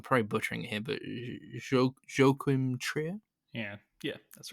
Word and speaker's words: Joachim Trier: Oslo trilogy from, I don't know how to pronounce his name, so I'm probably butchering it here, but Joachim Trier.